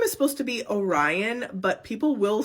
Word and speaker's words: Orion: This name is supposed to be Orion, but people will say Orion.